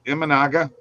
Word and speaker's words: Imanaga: do you not say his name is it imanaga yeah Shaga thank you thank you I was right about that pronunciation all right uh yeah plus 250 something